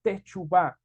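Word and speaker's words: תשובה: significa eso se escribe o se Perdón se pronuncia como techubá cuando hablamos de techubá es volvernos Atrás o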